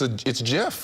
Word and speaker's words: GIF: But the creator of GIF says it should be pronounced with a soft G. So apparently I'm not right. The jars are being sold on Amazon. Is it GIF or is it Jif?